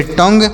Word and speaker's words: tongue: TO से पढ़ेंगे टॉ, और एन से पढ़ेंगे नो, GUE से पढ़ेंगे ग, तो इसे पढ़ेंगे टोंग।